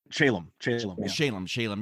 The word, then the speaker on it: Shalom: And sadly, I know that Brant Shalom, am I pronouncing his last name correct? Shalom, yeah, and it was tragically passed away in 1997.